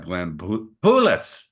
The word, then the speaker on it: Poulos: So today we've got Glenn Poulos.